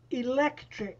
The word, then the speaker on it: electric: 209 conversation exercise b one electric which one is stressed it's over the ec the second syllable electric it's over the second